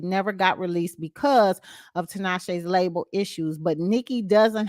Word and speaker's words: Tinashe: nicki minaj dislike uh tanisha uh tinashe is that how they say it tanasha is that the uh rapper shantae yeah i believe that's how you pronounce the name i don't